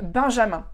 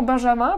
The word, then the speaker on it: Benjamin: Alors Benjamin, c'est un prénom, encore une fois, très sympa en français. On a l'équivalent en allemand, mais c'est Benjamin. Donc là, vraiment un prénom qui se prononce complètement différemment en français qu'en allemand. Et autant là, pour les oreilles françaises, Benjamin, ça sonne horrible. Et autant pour les oreilles allemandes, Benjamin, c'est horrible.